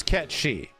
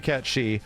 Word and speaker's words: Cait Sith: reality of the situation the correct name is ketchy to be honest the actual name closer to what it is is technically catchy from the history of which the character comes from however that was disregarded